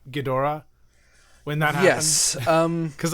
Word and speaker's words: Ghidorah: in the show era, the O is very, very glided. It's Ghidorah. It's not. Ghidorah. It's not gone. There's definitely kind of a third syllable there in the middle. I mean, it's a D and then a flapped R. Like, you got to put something between it.